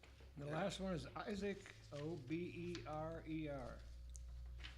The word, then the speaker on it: Oberer: The last one is Isaac, O-B-E-R-E-R. It's pronounced Oberer.